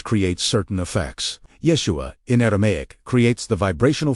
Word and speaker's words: Yeshua: Yeshua. Three syllables, each carrying specific spiritual weight.